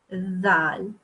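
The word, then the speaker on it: ذال: Dhal. So basically, for example, in English, the word this. Okay, this th, this, the, or even the word the.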